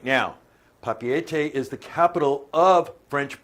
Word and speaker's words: Papeete: Now, up there on the top to your left, there's a town there that's spelled P-A-P-E-E-T. It's Papeete. Papeete.